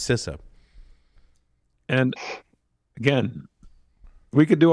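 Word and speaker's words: CISA: local sister representative that told me is pronounced sisa and again we could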